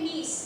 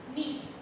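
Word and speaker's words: gneiss: से बेटा बनती है नीस स्पेलिंग लिखी जाती है जी एन ई आई एस एस नीस क्या बनेगी इससे नीस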